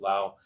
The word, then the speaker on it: Lao: running out from Lao it's actually pronounced Lao and Burma to get